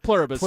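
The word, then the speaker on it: Pluribus: It's like Plurbus, I think is what it says, but I don't correct pronunciation? Yeah, it's Plurbus. Plurbus is the name, yeah.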